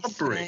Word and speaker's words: umbrella: So we Umbrella. say, so this is the word. So we say um um, umbrella, umbrella, umbrella, umbrella. right? So the stress should be on the second syllable.